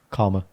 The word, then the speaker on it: Caldmore: and I was like, how do you say this place, which is in Warsaw, yeah? CALD Cald. MORE. Caldmore. Yeah. Karma. What? Karma. Calmer. Yeah, that's what we call it, karma.